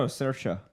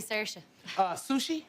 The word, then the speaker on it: Saoirse: 25th here coming up Saoirse Ronan is enough to make anybody go on film the insertion Saoirse rhymes with inertia that's how I learned I thought oh sure sure it's actually Saoirse sushi is it another Brooklyn